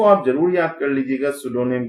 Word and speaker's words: pseudonym: जो गाल्सवर्दी के नॉवेल्स हैं उनमें से कुछ जो नॉवेल्स हैं, ज्यादातर जो नॉवेल्स हैं early novels, were written under, उनको सुडोनियम के द्वारा लिखा गया या सुडोनियम के साथ में लिखा गया।